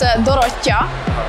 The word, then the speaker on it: Dorottya: In Hungarian, we spell it a bit differently and say it a bit differently. It's Dorottya.